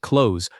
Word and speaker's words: clothes: Most learners try to pronounce every letter here, but the correct sound drops the th almost completely. It sounds like clothes.